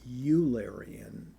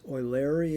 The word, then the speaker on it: Eulerian: Incidentally as to the pronunciation of this word in German eu is pronounced oi. So it would be oarian. oarian which is the way I've been pronouncing it in English there's a temptation to pronounce this uleran and and and the